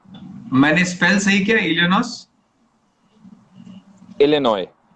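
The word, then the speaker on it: Illinois: spell सही किया नस लिनॉय लिनॉय एस साइलेंट आई सी आई सी ओके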